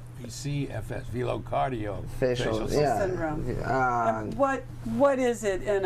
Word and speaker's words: velocardiofacial syndrome: Well, pronounce it correctly, since I didn't. It's velofacial cardio syndrome. VCFS, velocardiofacial syndrome.